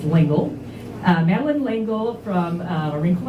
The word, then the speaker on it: L'Engle: Madeleine L'Engle, or L'Engle, I actually, before I came here, I realized that all these years I've been pronouncing her last name L'Engle, and it's L'Engle.